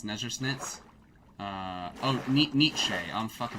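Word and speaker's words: Nietzsche: You can say his name is actually Nichi as they say niti.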